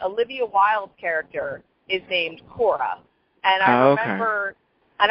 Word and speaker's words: Quorra: and I was just like okay so they pronounce it Cora but it's spelled with a key okay so